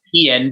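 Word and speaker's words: Eoin: It's pronounced Ian, but it's Ian. Okay. It's the Gaelic spelling of it.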